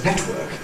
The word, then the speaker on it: network: using the pronunciation, ‘network’ . Now, I knew what she was on about. She was commenting on the glottal stop, . She prefers , the older pronunciation.